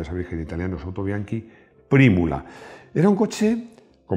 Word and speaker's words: Autobianchi: veces olvidado pero que fue clave el autobianchi se escribe autobianchi pero es sa virgen italiano es autobianchi prímula era un coche con motor traversal como